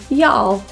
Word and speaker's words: y'all: are y'all going tonight for the final l sound be sure to put your tongue up right to the roof and feel the tongue contact with your palate YOLO it's an acronym